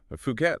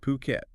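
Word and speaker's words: Phuket: based in fukat yeah fukat or as we should be pronouncing it puket and they've been around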